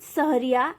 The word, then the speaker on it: सहरिया: The word सहरिया इज, इसका जो pronunciation होता है वो होता है स प्लस हरिया।